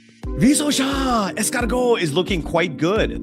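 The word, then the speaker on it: Risacher: So Joe here is trying to give me a proper pronunciation of Zachary Risosha's last name. It's pronounced Risosha.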